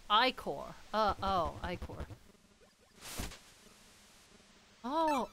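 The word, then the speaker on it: ichor: with a magical ickle that's pronounced i-core uh oh I core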